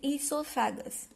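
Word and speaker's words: oesophagus: O is silent here, so we are pronouncing it esophagus.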